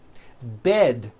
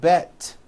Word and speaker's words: bed: Bed has a voiced D ending. It's not bet with an unvoiced T, it's bed with a voiced D.